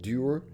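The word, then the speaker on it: duir: Uh, they would also call it, it re uh rhymes with pure. It's d uh d u i r pronounced durer.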